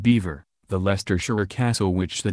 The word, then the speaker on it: Belvoir: they do things differently at Belvoir pronounced beaver the Leicestershire castle which